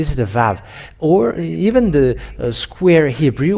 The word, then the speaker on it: vav: The letter Vav is V.